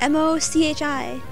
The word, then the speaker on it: mochi: I'll name it Mochi. That's a Japanese thing. Yeah. Is what a Japanese thing? Mochi. What? Mochi. What? It's a dessert. It's like M-O-C-H-I. Mochi.